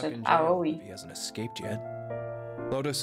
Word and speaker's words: Aoi: Aoi. Oh? My brother. Yeah. I heard about Ace. So that's how you pronounce it. Aoi.